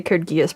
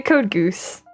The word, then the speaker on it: Code Geass: I shouldn't share this, but I have to try really hard to say Code Geass properly for you guys. Me and roommate tend to refer to it slightly differently. We tend to pronounce the title slightly differently. Why do the geese learn to code? Yeah, we say Code Goose, actually. We usually say Code Goose.